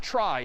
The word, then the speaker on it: trie: something here called a try so a try sort of a weird name and pronunciation short for retrieval pronounced try typically a try is